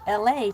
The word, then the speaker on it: Elay: I'm your host LA, pronounced like LA like the city.